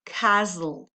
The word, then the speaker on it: castle: Ok, y las otras palabras, castle también fue una palabra, fíjate que buscaste la pronunciación de la palabra castillo, tiene la T muda. Entonces decimos castle. Ok, volvamos al ejercicio mismo ahora.